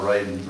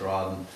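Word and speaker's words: Rawdon: and two British commanders Lord Raiden Roden I believe you pronounced it Roden and Colonel Krueger mentioned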